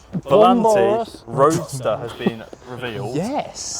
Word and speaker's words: Volante: The Aston Martin Vanquish Vanquish Val say it properly. Volante Roadster has been revealed.